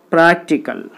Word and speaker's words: practical: There are three syllables. So the third syllable from the end, 1, 2, 3. So you put the stress mark on the third syllable, prac, practical.